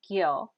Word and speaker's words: kyo: at the word part kyo k i o pronounced gyo and that makes the